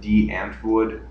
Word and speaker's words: Die Antwoord: For example, if you've heard of D. Antwoord, that's the real pronunciation.